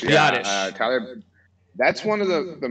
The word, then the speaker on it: Biadasz: Okay, what about, am I pronouncing his name right, Biadasz? Biadasz. Yeah. Biadasz.